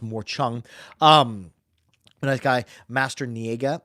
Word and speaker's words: morchang: monar and some and a morchang or as it's supposed to be pronounced more Chong um nice guy master